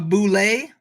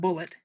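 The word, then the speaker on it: bulette: you say that uh it's not bullet a lot of people think that monster is called a bullet it's not it's boulevard tim cask who created that for first edition has done a video on his channel where he it's it's it has a french pronunciation boule so i hope they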